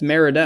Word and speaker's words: Merida: Yeah, it's Meredith, isn't it? It's Merida.